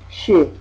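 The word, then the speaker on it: शि: But this is called the Ikimatra, which means it makes Sha become Shi, the short E, E or I.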